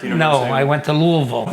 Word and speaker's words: Louisville: No, I went to Louisville. No, Louisville, that's how you say it. Like a little drool coming out of your mouth?